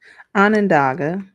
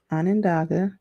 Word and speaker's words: Onondaga: Onondaga. Onondaga.